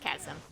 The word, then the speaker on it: chasm: at the chasm okay it's pronounced chasm because i keep saying it differently every single time i mean you can't have a word with ch at the start and i don't pronounce it like that okay we're going to